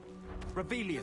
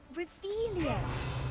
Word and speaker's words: Revelio: Revelio. Saying it wrong. Ugh, Revelio. Much better.